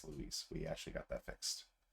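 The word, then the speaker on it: Luis: For whatever reason, I guess nobody decided to check the voice actor's pronunciation, but it's not Lewis, it's Louise.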